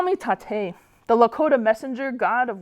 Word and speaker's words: Taté: My name is Tate, and there's an accent on the E.